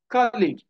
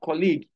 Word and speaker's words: colleague: Changeable, chauffeur, a personal driver, a private driver, cigarette, colleague, not colleague, the way some people pronounce it, colleague, no, colleague. You can see the spelling of colleague.